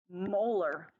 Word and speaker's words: molar: moles per liter and it is pronounced molar like the tooth so if I say molar I mean moles per